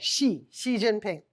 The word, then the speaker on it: Xi Jinping: By the way, media always gets the pronunciation of his name wrong. Oftentimes they say it like a Z, like G or J. It's it's just like sh like the female pronoun.